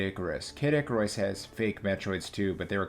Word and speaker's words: Metroid: Motroids? I think it's pronounced Metroids.